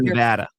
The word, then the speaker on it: Nevada: Is it Las Vegas or is it Las Vegas? It's Las Vegas. Nevada or Nevada? It's Nevada.